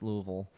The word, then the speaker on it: Louisville: louisville and he's like it's louisville like oh okay so like what is that what is what is louisville like the less syllables the better oh it's like all